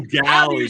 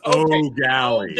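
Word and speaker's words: Eau Gallie: O'Galley, guys. It's O'Galley. Oh, okay. I'm sorry. O'Galley.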